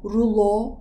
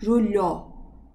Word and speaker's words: rulo: Sonra parantez içinde diyor ki L ince okunur. Demek ki rulo değil, rulo.